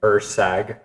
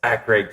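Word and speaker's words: Erceg: fighter, Steve Urkeg, and I think I pronounced his name Ursag or something like. I didn't pronounce his name right. Yeah. And some guy in the comments was like, "Oh, it's Ekrig, you casual."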